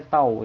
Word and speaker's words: tau: Ini bacanya tau ya. Bacanya tau.